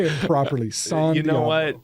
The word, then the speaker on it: San Diablo: Or do you guys say San Diablo, or you say it properly, San Diablo?